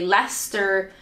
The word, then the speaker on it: Leicester: hose is that how you say it Lester Lester see you Lester sure sometimes the first time I say is the right way and then I doubt myself but my brain like I traditionally would say Lester Shire but I think it's more like Lester